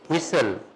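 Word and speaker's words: whistle: ठीक है इसी तरह विस्टल तो नहीं ना पढ़ते बोलिए क्या पढ़ते हैं विसल ठीक है और विसल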